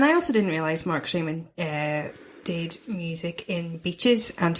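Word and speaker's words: Shaiman: The score is by the duo, Mark Shaman.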